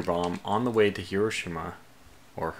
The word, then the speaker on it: Hiroshima: So we have our first nuclear bomb on the way to Hiroshima, or Hiroshima.